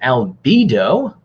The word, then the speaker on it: albedo: high reflectivity which as YouTube told me is pronounced albedo which planet is the hottest our sources and